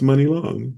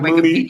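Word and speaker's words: Muni Long: today that it's pronounced Money Long. Yeah, that's what I was gonna tell you. Actually, I read I it was in her all Mooney, Wikipedia.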